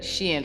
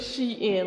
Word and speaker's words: SHEIN: It is literally SHEIN, like she and then in.